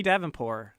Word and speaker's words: Davenport: It could be the French pronunciation. Honey Davenport. Yeah, but she said that it was a hard T because there's a lot of T.